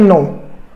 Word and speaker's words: know: बोला क्या जाता है, जानने को बोलते हैं नो, KNOW नो, यहां पे जो के है वो साइलेंट है, मतलब कि हम जब भी साइलेंट वर्ड को पढ़ते हैं तो स्टार्टिंग का जो वर्ड है जिसे मेरे पास इसमें के साइलेंट बताया मैंने, तो अब क्या है